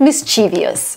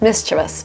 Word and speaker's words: mischievous: of course I would read mischievous. Show me mischievous. Obviously, like from the spelling, it's obvious. But no, hello, welcome to learning English. It's mischievous. I feel I must warn you though, they are rather mischievous.